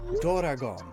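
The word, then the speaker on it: ドラゴン: all that they usually use doragon which is the japanese way of pronouncing dragon and if you look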